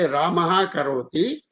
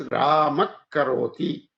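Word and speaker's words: रामः करोति: We should not just say Ramaha karoti. We have to say it as Ramak karoti, like that. Again, similar situation, swara with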